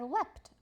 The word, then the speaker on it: leapt: Today I will leap across a puddle. Yesterday I leapt across a puddle. You'll write leap and leapt and point out how that ea changes its sound.